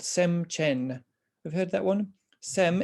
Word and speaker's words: sem chen: and chen see that's how we write it phonetically anyway c h e n sem chen mind possessor sem is the mind chen possessor